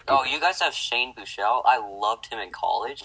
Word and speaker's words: Buechele: Buechele is how I do it. It's not Shelley.